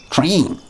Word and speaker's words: train: Train. Train. You probably say it like T-R-A-E-N. Train. I'm saying it properly.